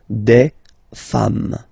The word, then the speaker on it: femmes: s at the end, and as we said, you don't pronounce it, so you get des femmes.